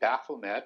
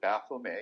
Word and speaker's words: Baphomet: secret that would be baphomet or baphomet as i would pronounce it because it's only a single t and there's no e on the end and that's a goat